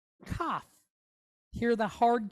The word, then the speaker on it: Kaf: And so that's where we get this, the name for this letter is Chaf. But when it has the dot, it's Kaf. Hear the difference? Chaf versus Kaf.